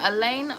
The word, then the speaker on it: Elena: Is your name, how do you say your name? Elena.